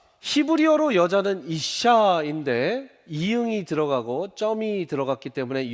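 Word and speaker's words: אִשָּׁה: 그리고 쌍시옷 시옷 발음이 나오고 이 밑에 우처럼 생긴 게 우리나라 말 모음 아입니다.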